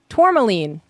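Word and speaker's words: tourmaline: Pronunciation. Tormaline.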